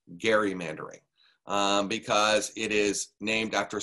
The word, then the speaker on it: gerrymandering: about gerrymandering which by the way is correctly pronounced gerrymandering because it is named after somebody by the name of elbridge gary but everyone pronounces it gerrymandering in the united states in fact we had